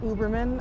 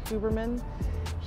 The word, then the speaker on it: Huberman: you have heard of Andrew uberman I think is the way that you pronounce his name or huberman he is a neuroscientist